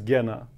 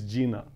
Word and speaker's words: Gena: when I spell it, it's G-E-N-A. And if I tell it to somebody, it's Gina. And Gina is woman's name.